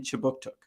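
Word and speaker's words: Kjipuktuk: newcomer services conducts business in chibuktuk which is how you say halifax in the mi'kmaq language this city is part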